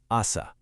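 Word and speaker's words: あさ: Actually, I want you to take a quick beat of silence right now to try pronouncing that out loud with me. Ready? Asa.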